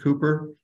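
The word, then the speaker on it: Cowper: he worked with William Cooper that's c-o-w-p-e-r is usually pronounced Cooper uh Cooper lived in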